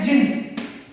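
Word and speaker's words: djinn: See, you have seen the word jinn. Right? But I said jinn. The word D shouldn't be pronounced. This is silent here. So we call it jinn.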